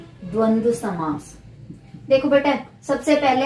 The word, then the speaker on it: द्वंद्व: द व फिर द व, द्वंद्व। इसका उच्चारण बार बार करके देखना आप सभी, द्वंद्व समास।